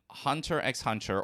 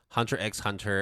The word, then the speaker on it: Hunter x Hunter: family right always uh officially they're both Hunter Hunter and spy family however while I do say hunter hunter I say spyx family